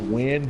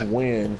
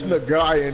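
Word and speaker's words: Nguyen: That's just as bad as the people whose name is actually pronounced Win, but it's Nagayan.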